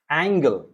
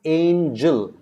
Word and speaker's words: angel: pronounce this as angle it's not angle see remember angle has angle a and g l e is angle because the l letter comes between g and e that is why it is angle remember if the e is close to the g then it is not g it becomes j if the e is close to the g then it becomes angel aim jill all right angel then